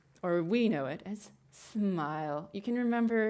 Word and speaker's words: SMIL: we know it as smile you can remember it's pronounced smile like the face will smile it's used as animate